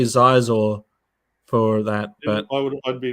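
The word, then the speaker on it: Xizor: It's pronounced Shizor.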